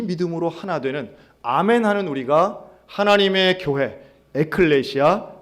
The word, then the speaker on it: 아멘: 이런 뜻이에요 그러니까 아 에이멘 할 필요없이 아멘 하시면 됩니다 왜냐하면 왜냐하면 예수님 시대 사람들이 에이멘 했을까요 아멘 했을까요 아멘 한 겁니다 당시 알아 모르나 매니 맞아요 그 영업 미국 사람이 그게 안되니까 잘못된 발음 이에요 조금 다른 얘기긴 하지만